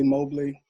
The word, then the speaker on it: Mobley: And now, and I want to say it right, is it Mobley or Mobley? I'd say Mobley. Thank you. Mobley. But I'm going to say Mobley because I want to respect how you pronounce it.